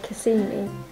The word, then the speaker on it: Kissimmee: Motel in Kissimmee. Kissimmee, I think they say it. As we say Kissimmee, but I think when I've heard the name Floridians say it, they sort of say Kissimmee.